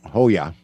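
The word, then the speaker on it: João: AO campus Silva and I don't know how to pronounce j o squiggly Mark AO um Hoya I think it's Hoya Hoya campus Campos Silva a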